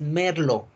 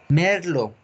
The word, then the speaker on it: Merlot: Merlot. No se pronuncia la T en esta uva. Es Merlot. Merlot.